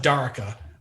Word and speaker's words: Darka: Is it Darka or Darika? We pronounce it Darka, but that's one of the most commonly mispronounced names.